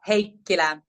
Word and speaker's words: Heikkilä: say your last name my last name is heila hea hea now this leads to my first